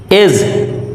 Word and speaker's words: edge: এজ, EDGE, এজ, এজ means কিনারা, এখানেও ডি এর উচ্চারণ হয়নি।